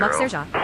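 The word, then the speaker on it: Lac-Sergent: 17000, Lac Sergent, climbing French flight level pronunciation, 200. Lac Sergent, is a village surrounding Sergent Lake in Port-Neuf Regional County Municipality in the Royal Air Canadian province Maroc of Quebec.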